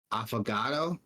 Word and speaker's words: Affogato: might be worth checking out we also got affogato is how you pronounce it I feel I forgot to avocado